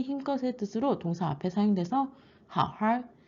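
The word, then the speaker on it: 好好: 뜻으로 동사 앞에 사용돼서 how하 잘 좀 해 how 쉬으시 잘 좀 쉬어 이렇게 권유를 할 때 how하 how 쓰게 되는데 여기서 주의할 점은 두 번째 how는 삼성이 아니라 일성으로 있습니다.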